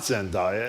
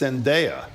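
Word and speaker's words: Zendaya: By the way, we mispronounced not only do we not know how to pronounce Zenaia when we pronounce Zenaia, it's not Zenia, it's Zenaia.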